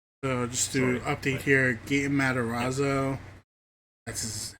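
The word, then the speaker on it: Gaten Matarazzo: so yeah so so just to update here G matazo that's how it's pronounced uh young uh he's a kid but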